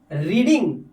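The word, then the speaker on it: read: Being रीडिंग, जो कि रीड एक वर्ब है फर्स्ट फॉर्म में, इसकी थर्ड फॉर्म लगाएंगे रेड, राइट। इसे स्पेलिंग सेम होती है फर्स्ट सेकंड थर्ड फॉर्म की, लेकिन इसको बोलते हैं रेड, ठीक है।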